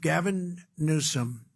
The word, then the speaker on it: Gavin Newsom: If Gavin Newsom let the water come down, see the way I pronounced his name properly for a change, if this guy allowed